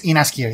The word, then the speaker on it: Inaskia: Oh yes, Inaskia. Yeah, Ineskia. Inaskia. So Ina, Inaskia. Eskia. Ina, and then skia, like a person who skis down a slope.